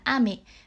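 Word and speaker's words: 雨: Ví dụ như từ mưa và từ kẹo đều có âm đọc là ame. Tuy nhiên với từ mưa sẽ đọc lên cao ở âm A là ame, và từ kẹo sẽ đọc ngang là ame.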